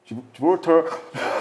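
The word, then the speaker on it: 지브롤터: 발음을 잘하세요. 예. 예, 지브랄티. 예. 지브랄터 그래서 모로코를 저기 이제 장악을 한 건데 저기를 이제 그래서 이스라엘이 거점으로 활용하고 있고요.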